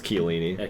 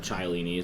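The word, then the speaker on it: Chiellini: well i was also trying to try and pronounce uh chellini as like child yeah well it's killing me killing me and i said chylini so you know yeah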